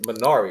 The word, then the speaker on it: Minari: But the new movie I'm looking forward to watching is Minari. Am I pronouncing that correctly?